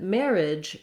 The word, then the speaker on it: marriage: married and then marriage it kind of looks like it should be or that should be other syllables there again just two syllables it's our first mare and then our g-e-a-g-e syllable says the j sound which we spell with letter j or g at the start of words just make sure that you have a nice pushed out j at the end